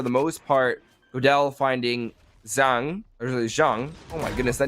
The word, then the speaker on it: Zhang: Just because it's well, basically we get like pronunciation sheets, and it's like the second half of garage.